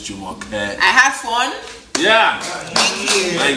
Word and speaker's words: Jumoke: Jumoke. Yeah. That's the global, you know, pronunciation of her name, but her real name is Jumoke.